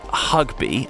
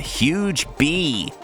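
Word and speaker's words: Hougue Bie: This is pronounced Hugby, though you could be forgiven for calling it the Huge Bee.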